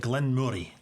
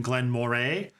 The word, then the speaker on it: Glen Moray: head-to-head are Glenn Mori I believe it's pronounced like Glenn Murray like Glenn Murray when